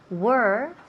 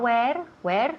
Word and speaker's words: were: Were. So, fijaos muy bien en la pronunciación. Were. Not where, no, where. Where is donde.